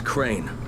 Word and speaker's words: Crane: no my name is crane crane rhymes with train and pray and say and claim and rape and plain and the other kind of plane and and can